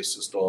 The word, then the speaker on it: systole: systole and diastole these terms are pronounced systole and diastole diastole that's how those